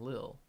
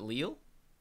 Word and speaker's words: Lille: 400 BC Nile what how do you pronounce it if it's not little unless they're cooking video something else is it Lille yeah oh excuse me I